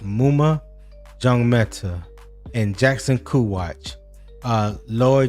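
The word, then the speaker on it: Maema Njongmeta: Uh, but when I looked it up, it's pronounced Muma Jong Meta, and Jackson Kwatch.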